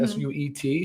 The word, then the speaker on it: suet: I believe that's how you pronounce it, S-U-E-T, suet.